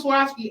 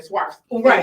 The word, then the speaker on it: Swarovski: a swastika crystals which somebody from swarovski actually trained me to say it correctly because i was saying swipes right like no that's not it's like swear yeah that's like he